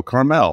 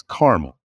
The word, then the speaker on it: Carmel: I'm from Indianapolis and there's Carmel Indiana and a lot of people go Carmel like no it's caramel and in other places